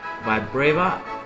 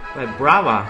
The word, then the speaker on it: Vibrava: And Trapinch evolves into Vibrava. No, that's not how you pronounce it. Vibrava, yeah.